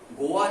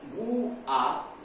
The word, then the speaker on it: गुआ: झारखंड में सिंहभूमि जिले के गोवा, गोवा नहीं, गुआ और नाव और नोवा